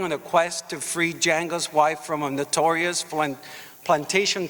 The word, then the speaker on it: Django: Django, the D is silent, damn it.